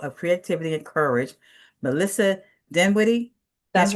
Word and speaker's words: Dinwiddie: Today, I'm thrilled to welcome a dynamic voice in the world of creativity and courage, Melissa Dinwiddie. That's right. Did I say it right? Dinwitty. Okay, good.